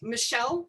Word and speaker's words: Michel: His first name is spelled like um uh Michael, M I C H E L. Uh but it's French, so it's presents Michelle Fukco.